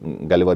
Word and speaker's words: Gulliver: तो हम आम तौर पर अपने इस हिसाब से अपने एक ख़ास मखसूस अंदाज से गुलिवर पढ़ते हैं, लेकिन हालांकि इसकी प्रोनाउंसिएशन इससे डिफरेंट है, गालिवर है असल में.